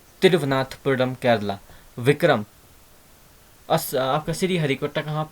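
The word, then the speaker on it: तिरुवनंतपुरम: अगर वी ना होता तो तिरुनाथपुरम इस टाइप की प्रोनाउंस कर रहे होते, तो ये वी को आप, विक्रम के वी और तिरुवनाथपुरम का वी बहुत ज़रूरी है, तो यहाँ से लिंक करना, है ना।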